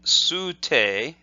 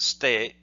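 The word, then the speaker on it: 捨: And then sute, and often that's pronounced ste. So the su is very short.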